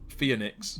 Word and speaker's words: Phoenix: Because like the way you often pronounce it is Phoenix, as you said, with like it sounds like it's the E before the O, but it's obviously not. It's the O before the E.